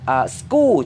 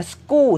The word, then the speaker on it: school: tomorrow เออโฆษณาอีกนิดหนึ่งคำว่า school ที่แปลว่าโรงเรียนคนไทยส่วนใหญ่ออกเสียงผิดนะรู้เปล่าถ้าใครออกเสียงถูกแล้วยอดเยี่ยมเลย just keep doing it แต่ว่าถ้าเกิดว่ายังไม่ใช่ก็ออกเสียงกลายเป็น school ใช้เสียงกอไก่นะ school เสียงกอไก่ไม่ใช่เสียงกอควายอยากเรียนภาษาอังกฤษครับครูเรียนเลยอยากรู้อะไรถามมาเลย is my L we are sharing the